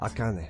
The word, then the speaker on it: Akane: I think if you're gonna pronounce it in Japanese, it's probably Akane. Yeah. Correct. Akane.